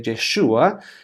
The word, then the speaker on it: Yeshua: Por cierto, Jesús es la pronunciación del nombre Yeshua, que sería el nombre correcto, que también nos recuerda